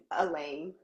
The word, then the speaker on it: Alane: And I just want to say I'm not a big stickler for names, but it's Elaine, not Elaine. Elaine. My bad. Oh yeah, no, because the A is in front of it, so my bad.